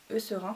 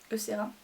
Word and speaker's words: Eucerin: Et celui-là il est de la marque Eucerin, je crois qu'on prononce. Eucerin, je pense.